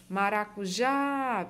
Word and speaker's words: maracujá: o acento Tá certo maracujá perceba que a sílaba forte é o já certo então quando a